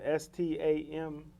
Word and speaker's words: Stamford: Yeah, S-T-A-M-F-O-R-D. Yeah. M. You're Yeah.